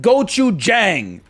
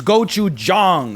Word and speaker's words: gochujang: started from okay and it is not gochujang it's gochu Jong okay it's we've come too far to slip backwards into the gochujang the a sound it's more like an uh sometimes not always